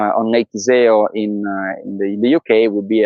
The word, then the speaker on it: Iseo: I think like in English pronunciation is off the table. Iseo.